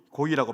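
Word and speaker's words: גוי: 우주의 왕이시여, 우리 주 하나님이시여, 여호와시여, 나를 이방인, 고이라고 발음하거든요.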